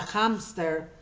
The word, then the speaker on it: hámster: en algunas palabras extranjeras en el caso de la palabra hámster por ejemplo como viene pronunciado así porque proviene del alemán respetamos esa pronunciación cuando es palabra extranjera